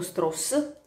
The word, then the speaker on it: Strauss: poi contro Oppenheimer, questo Lewis Strauss, detto Stross, perché si legge così, sono tutte in bianco e nero ed è Robert Downey Jr.